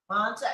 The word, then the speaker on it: Manta: Well, I'm so glad that you all were able to join us all the way from, is it Manta? Am I pronouncing? Manta, Ecuador, correct.